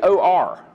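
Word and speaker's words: אור: it precisely here, but it's actually O-R. It's like we would say or, but I think it probably has a little different twist to the pronunciation there, or.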